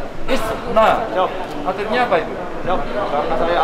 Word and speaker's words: Istna: Jadi bacanya gimana? Nah. ISNA.